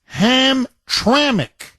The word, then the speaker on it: Hamtramck: how you pronounce it Barbara corrected me it's pronounced ham traic so and I messaged her back when we